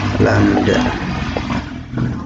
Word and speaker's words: lambda: Kemudian ini lambda ya, dibacanya ini. Dibaca lambda simbol.